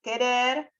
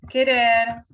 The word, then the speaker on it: querer: Ante las vocales E, I, el sonido K se representa mediante la consonante Q seguida de U muda. Nunca se escribe Q sola, ni nunca suena la U cuando acompaña a Q.